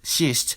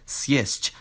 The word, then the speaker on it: съесть: For example, this word isn't pronounced shisht, but sjesht, with a two-consonant cluster.